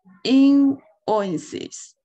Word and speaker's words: invoices: 词应该是 invoices. 这个首先它的重音是在 in 这里， invoices, 是对吧？